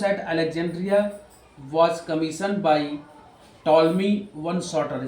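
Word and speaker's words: Ptolemy: Alexandria was commission by टॉलमी वन सॉटर इसको toll में पढ़ेंगे पी साइलेंट हो जाएगा द लाइट हाउस एट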